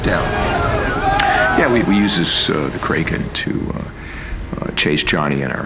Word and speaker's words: Kraken: I don't think it's Kraken anyways. Always heard it said Kraken. Well, we always pronounce it Kraken. No. Crocland's how it's pronounced in the original Scandinavian. But what happened was Kevin McNally was the first character to actually speak the name of it, and he pronounces it Kraken. The Kraken.